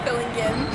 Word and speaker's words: Fillingim: I'm with Bailey Fillingim. Am I saying it right? Fillingim. Gim, okay. Well, my wife's a kindergarten teacher, so I have to get the hard G down in there.